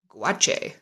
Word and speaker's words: gouache: gouache is spelled well this looks like it says kuwash but this should be a g-o-u-a-c-h-e guache that's one of those